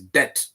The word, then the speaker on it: debt: It's not debt, Adama. It's debt. D-E-B-T.